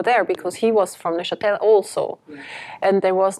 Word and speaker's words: Neuchâtel: Am I saying Neuchâtel?